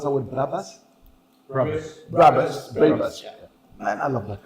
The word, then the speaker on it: Brabus: your Rolls Royces and your how do you pronounce that word? Brabus.